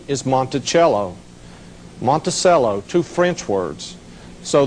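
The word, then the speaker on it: Monticello: A lot of people call name call the name Monttoello. Actually the correct pronunciation is Montichello.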